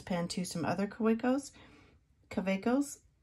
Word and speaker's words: Kaweco: to some other quickos cavecos I say it like a w because you know I I don't speak German I don't have that accent so pardon me if